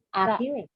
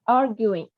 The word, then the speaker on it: arguing: Nếu mà nó là argue, nếu mà nó là chỉ có chữ ue thôi thì mình sẽ đọc là trọng âm thứ hai, argue. Mà nếu mà mình đọc là nó có đuôi ing là arguing. Arguing.